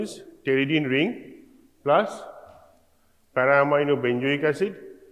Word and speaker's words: pteridine: One pteridine ring, P is silent here, pronunciation is pteridine ring, plus para-amino benzoic acid and plus glutamic acid.